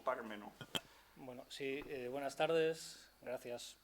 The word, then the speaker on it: Pármeno: Pinillos presumía de su Pármeno, con acento en la A, hasta el punto de firmar con este seudónimo la mayor parte de sus crónicas taurinas, teatrales y políticas. Pues bien, Pascual Terrero, que físicamente era peso mosca, se permitió quitarle el acento a la A de Pármeno, pronunciando Parmeno. Mire usted, don José, Pármeno